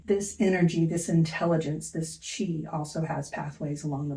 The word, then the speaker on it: qi: long time ago um the symbol for that intelligence is pronounced Chi and this chain flows